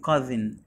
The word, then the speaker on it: cousin: اسمه كازن، كازن. هنا حرف الاو ما نطقوش، واليو ميكس ساوند، اليو ميكس ساوند ايه؟ اه، يبقى ك، والاس هنا منطقها ز عشان جايب من تو فاولز، يبقى كازن.